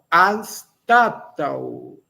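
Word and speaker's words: anstataŭ: A segunda, anstatau. Anstatau. Esse U com a braquia, essa semilua, é o fraquinho, é o de náutico, não é o U de caju, não.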